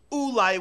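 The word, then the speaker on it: אולי: Ulai with a vav can only be pronounced one way. Ulai, which means maybe.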